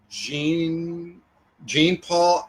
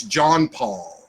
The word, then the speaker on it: John Paul: And And I'm sorry, by the way, yesterday when I called that guy Gene Paul, I guess his name, I mispronounced it, and I'm sorry. It's John Paul.